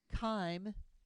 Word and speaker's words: chyme: And then I haven't mentioned this word, chyme. It's pronounced like a K. Chyme.